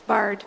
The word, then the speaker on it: Bard: Have I pronounced your last name right or not? It's Bard, B-A-R-D.